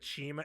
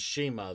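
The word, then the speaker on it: CIMA: So they give a history lesson about OWE in China, and Excalibur explains that Chima, it's spelled Sema, but it's pronounced Chima. It's pronounced Shima.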